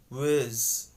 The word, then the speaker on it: was: same thing happens that in the word was the r sound the ah vowel sound gets reduced to the short vowel sound which is pronounced as uh so was changes into wiz wiz so people don't say